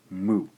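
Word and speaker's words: む: we can go mmm ooh move this is pronounced mu the consonants in Japanese KS T and H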